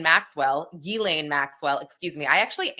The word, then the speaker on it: Ghislaine: I also want to discuss uh the latest with uh Gizlane Maxwell Gilane Maxwell, excuse me. I actually am usually better at pronouncing her name.